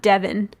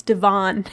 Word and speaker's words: Devon: streets here okay yeah it's not e-v-o-n yeah it's not devin it's devon okay and it's not paulina